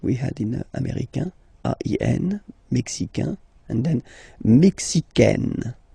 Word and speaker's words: américain: Okay, so les États-Unis, américain.